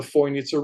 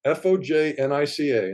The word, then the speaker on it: Fojnica: And the east side of the Bosnian Pyramid of the Sun goes straight into the Fojnica River, Fojnica, and they pronounce it Fojnica in Bosnia.